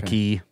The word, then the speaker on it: quay: like a harbor a key a bay you know spelled q-u-a-y i think it's pronounced key okay so yeah apparently